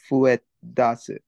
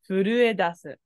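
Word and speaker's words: 震え出す: The kanji pronunciation for shaking is fuedasu. Close. It does have the fu, but it's uru. Furuedasu.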